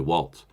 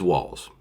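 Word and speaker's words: Walz: she chose Tim wals Walls sounds like walls uh doesn't have a tea but for some reason you want to put a te in there you want to say Waltz but it is walls I will pronounce it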